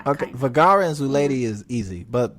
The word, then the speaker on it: Vergara: a town in spain vergara like sofia vergara okay vergara and zulady is easy